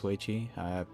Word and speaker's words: Hui: Oh, apparently it's way I'm probably getting the accent wrong, but okay, good enough for me.